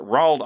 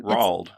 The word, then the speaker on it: Roald: But then later, Roald Amundsen took the Fram to Antarctica in 1911.